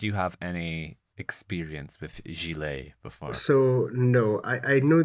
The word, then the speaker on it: Gigli: So, this year we watched 2003's, and I want to get this right, Gigli. It's pronounced Gigli, like really.